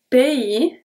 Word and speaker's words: pays: Le pays. The S at pays is not pronounced.